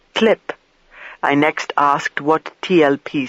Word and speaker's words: TLP: the file was actually his TLP file, which he pronounced clip.